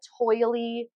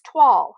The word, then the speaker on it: toile: I call it toily, but people on YouTube call it toile. So maybe I just don't know how to say it. It's Toile, and to me that looks like toily, but apparently it's toile.